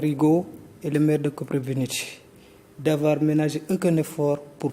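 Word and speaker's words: Kopřivnice: Alors comment on prononce Koprivnice en tchèque ? Koprivnice. Voilà, c'est un peu mieux.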